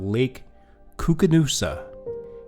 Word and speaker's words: Koocanusa: One, let's get the pronunciation right. We're talking about Lake Koocanusa, and the forest here is the Kootenai National Forest.